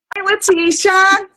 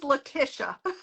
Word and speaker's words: Latisha: I'm going to put her in hello hi letia hi I'm just gonna tell you my name's Leticia oh my god I've been saying it wrong